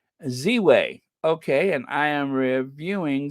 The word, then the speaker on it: Ziwe: Ziwe.